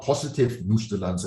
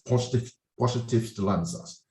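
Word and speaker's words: Positivstellensatz: Okay, it's not positive Nustellanza, it's Positivstellanzas.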